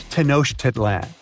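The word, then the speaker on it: Tenochtitlan: It's Tenosh Titlan. And Mayan cities are hard to pronounce too.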